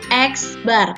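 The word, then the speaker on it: x̄: lambang dari Minato rata-rata dibacanya adalah x Bar jadi jangan bingung membacanya ini dibaca dengan eksbar kalau ketemu tanda seperti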